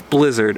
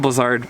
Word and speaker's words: Blizzard: Blizzard was originally pronounced Blizzard. I believe it was like it's a European company. What they did is when they moved their headquarters over to the Western US and they tried to kind of go after that Western audience, they did a rebrand and made the pronunciation Blizzard to try to appeal to those Western US skiers. So they literally changed the